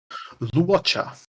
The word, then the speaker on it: Luocha: So how do you pronounce At least lore-wise. Luocha.